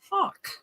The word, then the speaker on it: Haugh: spelled h a u g h what it's pronounced Hulk what is your nationality Martin uh I don't